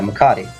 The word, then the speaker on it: Macadii: I'm going to pronounce his name correctly. Is it Macadii? Yeah, Macadii.